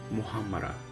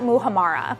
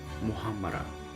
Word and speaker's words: Muhammara: Muhammara. It's not Muhammara. I do hear that a lot. So one more time, Joseph. Muhammara.